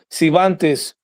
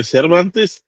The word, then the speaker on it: Cervantes: the name of Antonio Civantes. That's who Benitez masterclass at the tender age of 17 years old. Huh? We just ain't gonna pronounce the R in his name.